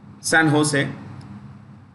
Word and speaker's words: San Jose: San Jose, JOSE, Jose, J is pronounced H.